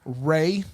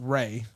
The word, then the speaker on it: Ralph: movies all the fantastic four movies that's right ralph venus that's ray his his name is pronounced ray okay ray finds the guy that played voldemort